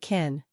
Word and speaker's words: kiln: It sounded like kin. Many students thought it meant family. So we need to know that kiln means a special oven for pottery.